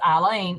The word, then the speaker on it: Alyne: when she says my name the way it's pronounced eileen it comes up as eileen that when she's